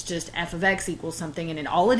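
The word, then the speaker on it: f(x): something like this and it is pronounced f of x because it is short for a function of X and so we have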